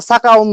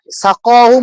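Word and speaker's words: سقاهم: এখন আমার আম্মু আমাকে ছোটকালে পড়াইছে কি একটা সাকাউন রব্বাউন সারাবন্ত ওরা এরকম একটা ভুল উচ্চারণ, এই ভুলটা কিন্তু আমার সারা জীবন থেকে গেছে। সাকাহুম হ্যাঁ রব্বুহুম, আমার আম্মু পড়ে সাকাউন রব্বাউন, ঠিক আছে?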